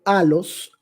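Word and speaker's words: ἄλλος: otro el término otro que se pronuncia en griego a los a los esla palabra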